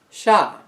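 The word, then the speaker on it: ш: letter after that is the letter sha which is often translated as a verb sh or is an s with a heart check in a similar vein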